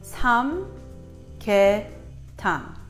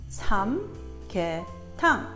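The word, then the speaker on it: 삼계탕: Now, before we begin, I'm going to teach you how to phonetically pronounce Sam-Gyeh-Thang. Sam-Gyeh-Thang.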